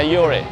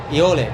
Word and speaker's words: Eole: Eole? Yeah, Eole. Eole. Eole. It's a France name.